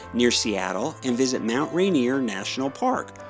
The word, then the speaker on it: Rainier: Seattle and visit Mount Rainier National Park or Rainier if you want to use the correct pronunciation for rear Admiral Peter Rainier after whom Captain George